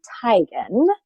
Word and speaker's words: Teigen: She also wrote on the Variety Christmas special for John Legend and Chrissy Teigen is the correct pronunciation, people.